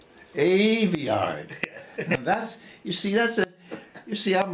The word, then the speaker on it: Aveyard: How do you pronounce it? Aveyard. Aveyard.